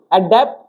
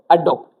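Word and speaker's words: adept: तो ये तीनों वर्ड हमने याद कर लिए, ए ई ओ, अडेप्ट, अडेप्ट, अडोप्ट। समझ आए, ये अडिप्ट नहीं है, अडिप्ट नहीं है, अडेप्ट थोड़ा सा इसको एम्फसाइज करके बोला जाता है, प्रोनाउंसिएशन पे ध्यान नहीं देना।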